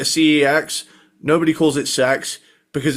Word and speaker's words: CeX: have a store called it's called Sex, but it's spelled C E X.